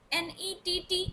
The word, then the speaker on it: nett: N-E-T-T is called in German net.